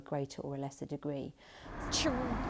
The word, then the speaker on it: chorizo: Something like chorizo is fairly well established now in English as an anglicised word. Now that's not how it sounds in Spanish. The Z letter in Spanish is pronounced either like a S or like a th, depending on which part of the Spanish-speaking world you're coming from.